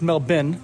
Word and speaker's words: Melbourne: Melbourne Australia wow and it's melbin not Melbourne they don't pronounce they don't pronounce their RS for some reason they put the RS in the word but they don't use them so we're in Melvin